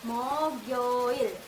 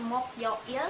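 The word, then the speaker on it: 목요일: Mokyoil itu dibacanya Mogyoil, bukan Mokyoil tapi Mogyoil. Karena di sini ada konsonan akhir dan ada konsonan kosong. Kita tarik konsonan akhirnya ke konsonan kosongnya. Jadinya Mogyoil.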